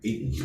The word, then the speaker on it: Eaton: Eaton, is that how you say it? Mhm. I think it's Eton, like Eton College is what I got.